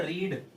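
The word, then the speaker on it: read: Newspaper is verb की third form, ये ना रीड, बोलेंगे इसको रेड, लिखेंगे same R ई ए डी, बोला जाएगा रेड, क्योंकि इसकी जो रीड की सेकंड और थर्ड फॉर्म होती है वो रेड प्रोनाउंस की जाती है, रीड रेड रेड।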